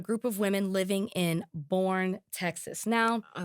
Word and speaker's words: Burnet: I'm assuming that's how you say it. But no, Burney. Ooh. I just looked at the phonetics. Or is it Burn? No, it's Burn-E.